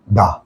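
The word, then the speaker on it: the: ওই শব্দের আগে যদি টি এইচই থাকে তাহলে উচ্চারণ হবে যে কি? দা।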